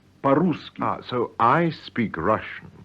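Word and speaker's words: по-русски: speak Russian involves using the adverb po ruski meaning in Russian pronounce paruski ah so I speak Russian is yes paruski translate does she speak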